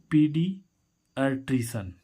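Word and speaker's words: paediatrician: ऐसे ही इसमें देखें पी ए ई डी आई ए टी आर आई सी आई ए एन, पीडियाट्रिशन, पीडियाट्रिशन। तो इस ए ई का उच्चारण क्या हो रहा है, यहाँ पर बड़ी ई हो रहा है, बड़ी।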